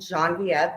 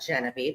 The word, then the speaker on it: Genevieve: It's very French, like Bailey's, Irish, and Genevieve, Genevieve. If you split that up in 3 syllables, it means white wave.